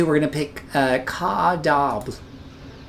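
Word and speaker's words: Cap au Diable: We're going to pick uh Caab, and I'm pretty sure I'm butchering that, but Cop Adiab is how the Southerners pronounce it.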